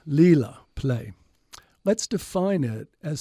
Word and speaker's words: Līlā: pronounced like the English L in let. Lila, play.